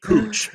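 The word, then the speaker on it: Chooch: Cooch. Y'all know something. The H is the H is silent.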